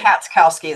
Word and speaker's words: Katskowski: It's Katskowski. You're close. Katskowski. You're close. Katskowski. What is it? Katskowski, the CH is silent. Cats.